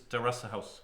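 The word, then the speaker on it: テラスハウス: okay Terrace House okay in Japanese it's Teressa house the rasa house yeah it's an excellent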